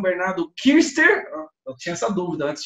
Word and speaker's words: Küster: Hoje eu vou conversar com o Bernardo Kirster, eu tinha essa dúvida antes de fazer, só pronunciar corretamente, Kirster, não é? Com trema Tá, alemão.